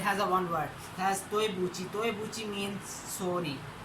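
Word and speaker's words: 对不起: Has toebuchi.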